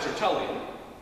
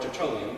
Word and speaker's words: Tertullian: There was a man by the name of, who we refer to now as Tertullian, or Tertullian, depending on how you want to pronounce that.